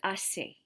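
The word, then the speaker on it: hace: answer with the word ase remember that the h is silent so let's go ahead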